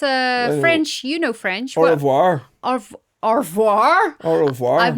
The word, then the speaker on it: au revoir: I don't think you pronounce the R. Au revoir.